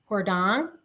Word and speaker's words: Jordaan: I stayed It begins with a J, but it's actually pronounced, I believe, Jordaan.